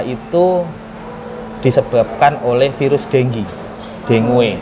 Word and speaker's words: dengue: disebabkan oleh virus denggi dengue tulisannya dengue bacanya dengi Nah itu virus ya